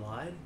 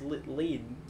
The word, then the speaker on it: Lied: and I'm like no the way they like say in Japan it's lead um because it's l i hyphen e d lead like no I'm like